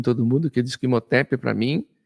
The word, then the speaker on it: Imhotep: Então, Imhotep, ou lá, se a gente for da pronúncia correta, Imhotep, né?